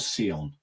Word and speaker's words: Sion: Sion. It's spelled Sion. It's just the Welsh spelling of Sean.